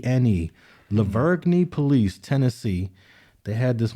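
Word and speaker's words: La Vergne: Leverne police, Tennessee.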